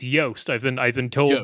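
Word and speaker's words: Joost: yeah we love um his name rhymes with toast it's yast I've been I've been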